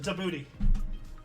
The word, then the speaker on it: Djibouti: It's actually pronounced Djibouti.